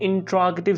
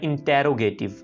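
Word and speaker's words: interrogative: अब हम देखते हैं कि इसका हम इंट्रोगेटिव सेंटेंसेस यानी सवालिया फिक्रात कैसे बनाएंगे। इस लफ्ज़ को बहुत से लोग मिस प्रोनाउंस करते हैं इंटेरोगेटिव, इट इज इंट्रोगेटिव, इंट्रोगेटिव यानी सवालिया फिक्रात।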